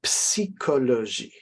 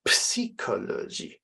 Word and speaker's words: psychologie: This is la psychologie. Okay, we need to hear the P, the S, and the I at the beginning of this word. La psychologie.